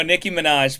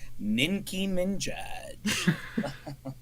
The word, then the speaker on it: Nicki Minaj: do you say it am I saying it wrong no Nicki Minaj but there's there's a there's a meme that that someone goes ninki MJ you're so much more